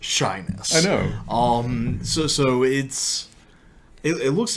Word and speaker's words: Shiness: Well, every time I heard it, it was pronounced shyness.